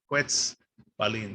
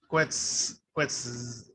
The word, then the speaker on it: Quetzalcoatl: is we're gonna say, instead of CU, we're gonna do KW, because some people will be confused and they'll say, instead of Quetzalcoatl, they might say Quetzalcoatl, right? And they're put a little bit too much emphasis. That's not how the sound goes. So it's KW, Quetzalcoatl. The other thing we're gonna change is the Z. There's no Z sound. It's not Quetzalcoatl.